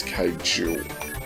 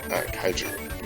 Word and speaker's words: kaiju: a kite you or chi-su I think it's kaiju kaiju yeah okay I said it wrong sorry everyone